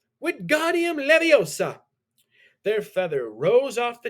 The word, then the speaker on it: Wingardium Leviosa: Wingardium Leviosa, he shouted, waving his long arms like a windmill. You're saying it wrong, Harry heard Hermione slap. It's Wingardium Leviosa. Make the gar nice and long.